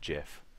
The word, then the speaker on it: GIF: Apparently, you're supposed to pronounce it like JIF.